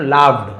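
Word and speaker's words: laughed: द मैन लाफ्ड and replied, अब उस आदमी वो व्यक्ति जो हंसा, लाफ का सेकंड लाफ्ड है ना, तो इसे लाफ्ड पढ़ेंगे, लाफ्ड।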